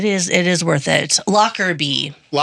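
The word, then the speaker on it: Lockerbie: Um, Locker B, um, is spelled L O C R E R. Nope. L O C K E R B I E.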